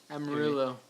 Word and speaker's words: Amarillo: Amarillo for the for the proper pronunciation.